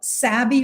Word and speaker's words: Savvy: It's Savvy, Savvy. I know savvy, the word savvy actually is spelled with 2 V's, but it's a name. It's Savvy.